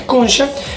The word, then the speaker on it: concha: Entonces, como bien dice Tali TM, que me olvidé de decir la palabra concha o concha, la pronunciación correcta es concha, que significa cuchara y que obviamente puede dar una confusión grande como la que hablamos ahora.